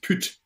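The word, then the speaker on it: pyt: words uh now but it's spelled p-y-t and it's it's uh it's pronounced put and it means to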